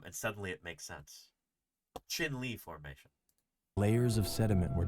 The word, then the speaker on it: Chinle: It's Navajo. It's not Spanish. So yeah, that's what Jeff told me. Um and suddenly it makes sense. Chin Lee formation.